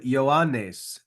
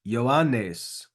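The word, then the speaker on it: Ἰωάννης: verse 15 first up the name yanes yanes yanes Yan notice the double new in there you should try to get both of those news yan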